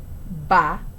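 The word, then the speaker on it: 八: for the number eight ba rhymes with the word for prosperity it was such a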